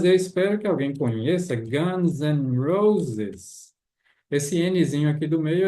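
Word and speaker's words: Guns N' Roses: significa e em inglês não precisa ser enfatizada né é apenas um sonzinho de n de n igual uma banda eu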